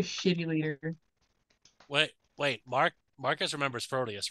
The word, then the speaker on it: Proteus: Wait, I said Proteus.